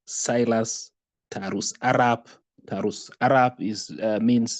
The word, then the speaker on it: Silas Tarus: As you've heard, my name is Silas Tarus. It is pronounced as Silas Tarus.